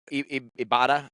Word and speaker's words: Ibarra: Ibarra. I haven't learned how to say it. You gotta roll them R's, baby. Ibarra. Well, she's Filipino. I mean, I guess Filipinos kind of roll their arms.